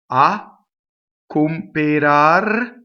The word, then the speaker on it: a cooperar: Next line, a cooperar l'anello. Okay, so the A is a strong monosyllable. It makes a slight double C.